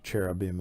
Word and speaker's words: cherubim: heavenly beasts like the Caribbean and the or cherubim as we pronounce it sometimes and the Seraphim which are